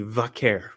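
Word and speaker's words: Vaquer: Vaker or if you want to throw the Spanish in it, vaker. It's easy. It's not It's not hard. It's two syllables.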